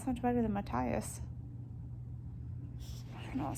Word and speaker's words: Matthias: my whole thing so i've been calling him matias for the entire book like last book in this book i just think it sounds so much better than matthias you know it sounds weird to me it's